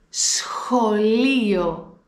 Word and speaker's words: σχολείο: Η πρώτη λέξη που έχω είναι σχολείο. Σχολείο. Εδώ έχουμε συνδυασμό σίγμα πλας χ.